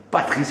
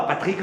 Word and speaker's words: Patrice: Patrice, et non pas Patrick comme le disent certains.